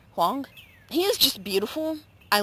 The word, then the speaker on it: Huang: 10 or 11 uh his name is Andrew Wong that's Andrew and then his last name is spelled I think it's h u a n g Wong he is just beautiful